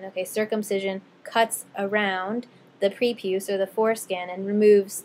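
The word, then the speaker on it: prepuce: is actually preuse pre the proper pronunciation there is preuse um and so an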